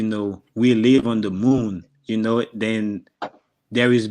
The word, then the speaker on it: moun: You say moon, but you spell it with MOUN.